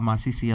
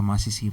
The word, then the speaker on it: Masisi: So yeah, I got called Masisi a lot growing up.